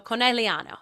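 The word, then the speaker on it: Conegliano: I don't I was pronouncing the G and I took Italian for a year.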